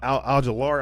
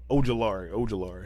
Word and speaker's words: Ojulari: And Al-Jalari, I know I always say his name wrong too, but Ojulari.